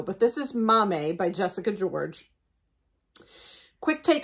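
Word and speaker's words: Maame: the next one is called Mame and it's m-a-a-m-e as you see on the cover it just happens to tell me how to pronounce it phonetically so that's the only reason I know but this is Mommy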